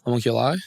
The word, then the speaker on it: Homunculi: Is that how you say it? Homunculi? Homunculi, yeah.